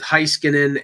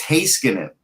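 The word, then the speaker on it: Heiskanen: and Klingberg and LA oh there you mispronounce his name who's that it's hey skin it oh Christ come on it won't smear for a year where you been I've been calling him hi skin in right and he's gonna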